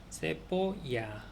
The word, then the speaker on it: cebolla: 세포야 그리고 그래서 세에 베 오 엘예 아 이렇게 철자를 할 수 있다.